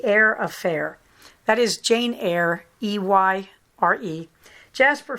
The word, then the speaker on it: Eyre: That is Jane Eyre, E-Y-R-E. Jasper Ford's last name, he's Welsh, so it's spelled double F.